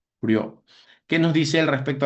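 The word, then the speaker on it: Prieur: Acá en el derecho ambiental tenemos nosotros a Michel Prió, Michel Priur, solo que se pronuncia prior.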